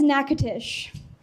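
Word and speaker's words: Natchitoches: are not pronounced how they're supposed to be pronounced and it's actually really upsetting nachas that is nacatish that first one is called neades the second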